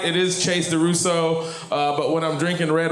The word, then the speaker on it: DuRousseau: It is Chase Durousseau. But when I'm drinking red wine, I like to pronounce IT CHASSEUR DUROUSSEAU.